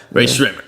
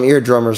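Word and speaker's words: Rae Sremmurd: I never knew how to say their name before, but no, I do. Ray Shrimmer. I just called them eardrummers because that's what it was backwards.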